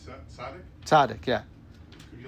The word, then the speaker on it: tzaddik: So then would you say that, am I pronouncing it right, tzaddik?